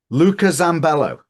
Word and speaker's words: Luca Zambello: what you would otherwise Luca zambello am I pronouncing your name correctly no yes yes yes yes I did I got it right okay Luca zambello CEO of Journey j